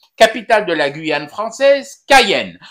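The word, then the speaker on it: Cayenne: de la Guyane française Cayen a prononcé à l'Algérienne parce que nos anciens connaissent Kayen et nous ont raconté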